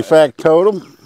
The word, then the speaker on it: Factotum: We got Anson, and we got Gladys from Ivy's Family Factotum.